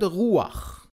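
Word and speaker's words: רוח: Another example, the word ruach. It's written resh, vav, chet. But we don't say rucha, we say ruach, just like with tapuach.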